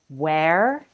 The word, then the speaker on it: where: Where rhymes with air, and were rhymes with her.